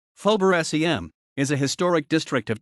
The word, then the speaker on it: Faubourg Saint-Germain: phobia saint-germain french pronunciation fober sem is a historic district